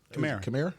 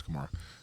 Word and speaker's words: Kamara: So Alvin Kamara can line up as a receiver. He can line up as a receiver. He can line up in the backfield. You said it right. Kamara?